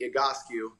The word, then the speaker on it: Egoscue: with that real quick the agoski method is based on a gentleman named pete igotsky and what he did coming out of vietnam back in 1971.